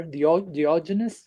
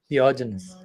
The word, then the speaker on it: Diogenes: Once someone asked this famous Greek philosopher, Diogenes. How do you pronounce that in English? Okay, Diogenes.